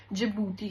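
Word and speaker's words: Djibouti: then you have E for Ethiopia then you have E फॉर इरीशिया and last में जो आपका डी है इससे जिबूती है here D is silent okay remember that as well थोड़ा important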